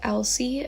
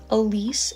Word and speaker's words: Elsie: well, on the back, the main character's name is Elsie. It's spelled Elsie on the back. But as I was reading it, I was saying Elise in my head, and I realized that like there's typos in this book. It says Elise and Elsie, so there's definitely typos. I'm pretty sure it's supposed to be Elsie.